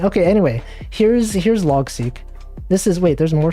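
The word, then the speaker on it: Logseq: seek uh let's see when i first pronounced saw it pronounced as log sec in my head but c makes sense i've heard people pronounce it multiple ways but i think seek makes sense like seq for sequence xing what do people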